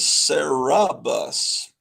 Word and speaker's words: Cerebus: Well, that's Cerberus. This is Cerebus. Oh, okay. They have the syllables a little different.